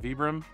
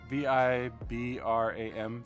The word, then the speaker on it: Vibram: And these feature, I don't know how to pronounce it, Vibram. V-I-B-R-A-M, Vibram.